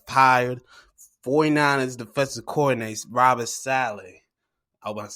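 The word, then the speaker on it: Saleh: times and they've hired 49ers defensive coordinates robert sally i was saying it right but shot but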